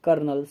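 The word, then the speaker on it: colonel: hand करने के बाद कर्नल सी ओ एल ओ एन ई एल अब आप लोग नहीं कंफ्यूज हो जाएगा कर्नल के से काहे नहीं लिखे हैं तो यही स्पेलिंग होता है कर्नल का ठीक है सिक्स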